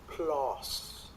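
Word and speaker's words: PLOS: they did and this was actually published in plus so Santos I know you love plus one this is a plus pathogens which is an Open Access Journal right we should pronounce it properly it's plus P oos plus now they did a study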